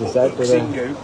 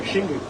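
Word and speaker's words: Xingu: so X it's like shingu shingu yeah that's Zing yeah no one pronounces zingu it's like No shingu And yeah act as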